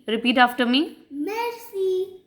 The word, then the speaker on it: merci: You will not say mercy. You will say merci. Repeat after me. Merci.